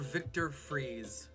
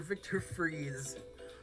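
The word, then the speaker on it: Victor Fries: names of these people his real name is um dr victor freeze but it's spelled like fries dr victor freeze he became mr freeze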